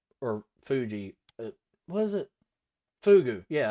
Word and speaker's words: fugu: So it takes, if I remember correctly, a decade of uh preparing fugu or Fuji, what is it?